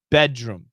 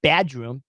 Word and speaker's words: bedroom: not exactly sure uh typically the pronunciation is bedroom bedroom not bad room bedroom bedroom bedroom bedroom